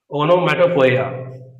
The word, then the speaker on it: onomatopoeia: And after that, another important one is onomatopoeia. Okay, very good and very interesting pronunciation. Ono, mato, poia, poeia, right?